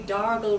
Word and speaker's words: Dargle: it now very conveniently darle rhymes with gargle so it naturally evolved